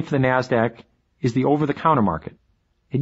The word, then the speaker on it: NASDAQ: the New York Stock Exchange NYSE and the NASDAQ which is pronounced NASDAQ NASDAQ stands for the National Association of Securities